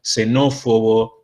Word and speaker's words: xenófobo: griegas por lo general nosotros van a vamos a pronunciar como ese entonces xenofobia xenófobo si se van a pronunciar